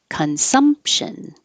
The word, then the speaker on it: consumption: Pro proprietary marginalized marginalized consumption you don't say the P you just close your